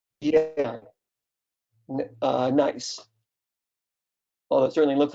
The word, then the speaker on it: gneiss: You're going to tell us how to pronounce that, right? Yeah, nice.